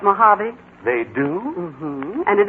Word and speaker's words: Mojave: Real Death Valley prospectors don't call it Mojave, Mr. Newton, but Mojave.